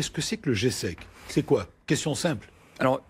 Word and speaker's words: GESEC: parler d'abord qu'est ce que c'est que le g sec c'est quoi question simple alors imaginez vous soyez